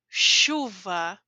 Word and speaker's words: chuva: Quando eu tenho CH, a pronúncia é sh, sh, chuva, chuva, a água que cai, certo?